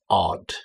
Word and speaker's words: odd: And the next word is odd. And again, pronunciation odd. Get that d sound at the end.